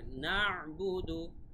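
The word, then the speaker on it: نَعْبُدُ: তারপরে না'বুদু, এখানে কিন্তু আইনের উচ্চারণটা ক্লিয়ার থাকতে হবে, না'বুদু এভাবে।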